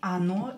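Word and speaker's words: оно: Ana is she and ano is it on Anna when o is not stressed pronounce it as the same is here ano here or is stressed so we will pronounce it as o here or is not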